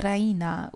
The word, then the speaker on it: Raina: She pronounces it the Ryena with the stress on the E.